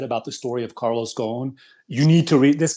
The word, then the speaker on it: Ghosn: I think it's pronounced Ghosn, if I'm not mistaken, silent S.